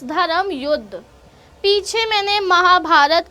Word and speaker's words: धर्म युद्ध: I know pronunciation इसकी जुदा या जुड़ या पता नहीं कैसे होती है क्योंकि जे लगा हुआ है, बट इट्स धर्म युद्ध।